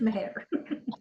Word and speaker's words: Meir: yeah um now M please tell me if I said your name wrong no that was perfect okay it is Meir okay um what activities